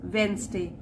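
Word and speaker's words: Wednesday: the funeral is वेंसडे, इसमें D silent होता है तो वेंसडे बोलते हैं, और फ्यूनरल का मतलब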